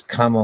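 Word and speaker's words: kāma: Uh, what exactly is kama? What is its source? I assume you mean kama with two M's. Kama with one M is sense desire, a long A and one M.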